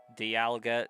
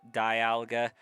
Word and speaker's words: Dialga: Dialga, Dialga. I'm pretty sure the common pronunciation is die. But I I have called it both, Dialga.